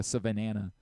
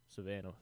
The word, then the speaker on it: Savannah: I keep saying the Savanana like I'm adding another. Hey, maybe they can learn something. Savannah bananas. I want to make it Savannah. The same number of uh syllables in both words.